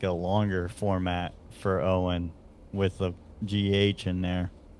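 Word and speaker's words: Eoin: It's Owen. So E-O-I-N is pronounced Owen for some reason in his country.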